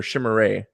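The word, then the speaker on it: Chimere: It's it's it's not Cameron. It's it's Shimmerin or Shimmer, just so you know.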